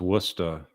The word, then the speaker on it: Worcester: And yeah, so Tina's confirming it's pronounced Worcester.